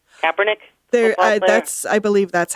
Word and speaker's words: Kaepernick: How do you pronounce that last name? Kaepernick.